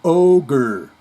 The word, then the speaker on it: ogre: The Shrek movies the Shrek movies are entertaining, and yes, the word pronounced is ogre. Really is spelled ogre.